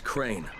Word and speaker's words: Crane: no my name is crane crane crane rhymes with train and brain and San and Grain